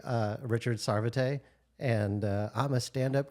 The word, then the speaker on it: Sarvate: I'm uh Richard SAR I need to start pronouncing my last name correctly uh Richard sarvet and uh I'm a standup comedian wasn't a